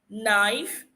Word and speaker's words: knife: Whenever you see K before the N, know that the K will be silent.